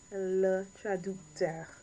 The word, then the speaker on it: traducteur: Le traducteur. Sorry, said that wrong. Le traducteur. Right, sorry guys, I had the pronunciation messed up for some reason. So, le traducteur. So, not docteur, ducteur.